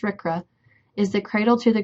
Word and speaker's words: RCRA: The Resource Conservation and Recovery Act, abbreviated RCRA and pronounced RCRA, is the cradle to the Grave Act.